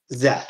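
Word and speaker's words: Szeth: Zeth. Zeth. His name is spelled funny, okay? It's an SZ next to each other, so It's not something you normally see in the English language.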